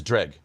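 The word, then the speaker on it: Dreugh: It's Dreg. Yeah. Dreg. That's what I've been saying. Drag. All right. It's pronounced as if it didn't have some of the letters in it.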